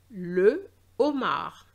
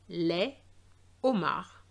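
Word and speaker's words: homard: And this shows that it is an H aspiré. So no liaison. Le Omar. Les Omar.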